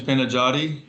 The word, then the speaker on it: Panajati: Yeah, so his first name is Panajati, and Okay.